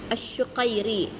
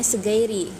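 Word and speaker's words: الشقيري: Ada Kelihatan nih Ahmad Kalau bahasa Arabnya Ahmad asuqairi cuman orang biasanya orang hadrut bacanya seiri pakai Q bisa tapi kalau kita bacanya Ahmad asuqiri ya Ahmad suqiri ini pas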